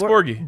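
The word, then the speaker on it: Borghi: Oh yeah, Max Borgi.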